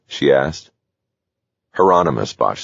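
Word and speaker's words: Hieronymus: Heronomous, Bosch said.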